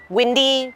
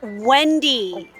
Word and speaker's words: Wendy: Windy, glasses, red hair. That's Wendy. Wendy, okay? Be careful how you pronounce her name.